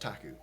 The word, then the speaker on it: PTAC: the same time uh it's spelled PTAC and pronounced taku because yeah he's awkward